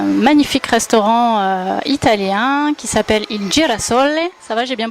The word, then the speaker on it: Il Girasole: Aujourd'hui, je suis en compagnie de Massimo sur la plage et il a un magnifique restaurant italien qui s'appelle Il Girasole. Ça va, j'ai bien prononcé?